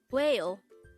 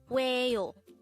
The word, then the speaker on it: 왜요: WAEYO. This is pronounced as a two-syllable word. The first syllable is we, and the second syllable is yo. Pronounce it with me. WAEYO.